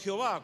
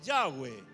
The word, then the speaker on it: Yahweh: deformaron, cambiaron el nombre y nosotros decimos Jehová, cuando no es Jehová, es Yahweh, ¿no?